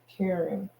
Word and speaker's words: Charon: that a sailor can use them to pay cheron if the ship sinks so it's still those are two um Charon let's see else it gives me and it spell like Caren the pronunciation L here is Karen looks like Char Char on caring okay an